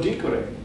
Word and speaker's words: dicere: Third conjugation have a short E, like dico, dicere. It sounds short.